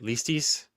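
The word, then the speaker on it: ληστής: You kept saying the word, if I heard you right, listis, but I thought it was lestes. Yeah, and this is another thing. Like, I'm getting a lot of criticism for it. Listis is a Greek word.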